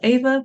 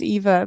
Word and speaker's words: Eva: what I mean um Ava thank you for coming on the show how are you doing today I'm good thank you my name is pronounced Eva by the way oh I'm so sorry